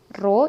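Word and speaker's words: rho: atau ditulisnya P = roh ini bacanya Royal massa jenis itu bacanya ro dikali G dikali h-pro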